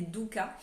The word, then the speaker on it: dukkah: Donc cette enseigne propose des mélanges de noix et de graines concassées et torréfiées que l'on appelle des doukas. Le douka, c'est la bonne prononciation, je me suis renseignée.